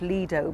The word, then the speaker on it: Lido: where does the word lie though comes from well really it comes from the the beach in Venice and incidentally I'm sure it should really be pronounced Lido because it is Italian and that says obviously